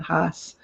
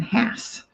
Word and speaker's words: Haas: So things like Haas avocados in California, Haas was the spelling a lot of us, we even pronounce it Haas. but now it's only ever been has.